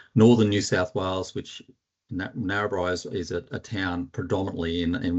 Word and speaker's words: Narrabri: Kelvin, a little correction just in the pronunciation of Australian towns. I come from a place called Narrabri, which is an Australian Aboriginal word for two rivers. So I come from northern New South Wales, which Narrabri is a town predominantly in one of our